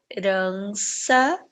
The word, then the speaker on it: herança: nenhum símbolo fonético associado quando ela está no início das palavras ela não apresenta nenhum som por exemplo quando eu falo estas palavras e herança eu não eu falo